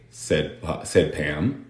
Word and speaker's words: said: So, I like cake, said Pam. Aquí tenemos una palabra irregular. Acuérdense de eso. Said se pronuncia con esa vocal. Como egg. I said.